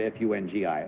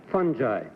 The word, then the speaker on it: fungi: refer to the word F-U-N-G-I? How do you pronounce it? Fungi. Fungi.